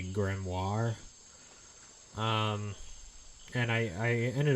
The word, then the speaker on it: Grimoire: these years was that we had actually been pronouncing it wrong the whole time and that it was actually Grimoire.